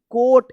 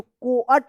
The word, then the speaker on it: coat: बोट पढ़ेंगे, क्योंकि यहाँ पे ओ ए का ओ उच्चारण हो रहा है, ठीक है ना। तो क्या होगा, बोट, COAT, कोट। इसको कोअट मत पढ़िएगा या बोअट मत नहीं पढ़ना है, क्या पढ़ना है, बोट, कोट।